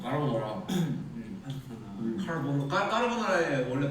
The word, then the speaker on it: 까르보나라: 카르보나라. 카르보나라. 카르보나라. Taeyong looked it up. 아그 카르보나라. 아라. 이렇게 한다. 카르보나라. Taeyong looked it up. The pronunciation for 좀 불린데. 까르보나라.